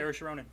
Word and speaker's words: Saoirse Ronan: Saoirse Ronan. Her. Are we Oh. sure that's how you pronounce the name?